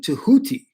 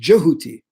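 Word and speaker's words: Djehuti: So when we say Tao, we are really saying Tehuti or Jehuti. Sorry, it's pronounced Jehuti.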